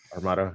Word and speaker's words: Armada: I'd love to hear about how do you pronounce it? Armada or Armada or Armada. Armada, yeah.